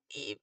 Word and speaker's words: Ib: E. It's like Eve, but not.